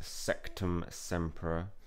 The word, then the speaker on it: Sectumsempra: sector SEC term yeah it's not sex it you're pronouncing it wrong it's Sectumsempra alright there's a rumor